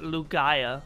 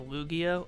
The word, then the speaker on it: Lugia: when i was younger called it lugaya instead of lugia or lugia blue guy i don't know